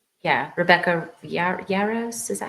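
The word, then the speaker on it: Rebecca Yarros: Rebecca Yaros, is that how you say her name?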